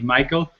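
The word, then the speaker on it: Mícheál: Well, the fada is used in Irish just to make a sound longer than it would otherwise sound. So the English form of my name would be Micheal, and the accent on the I means that it sounds more like me than like my.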